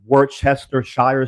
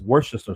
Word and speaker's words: Worcester: So one of them, you look at it and it looks like it's Worcestershire sauce. It's Worcester sauce. Worcester sauce. That's how you say it. Whatever. I'm done. Not Worcestershire.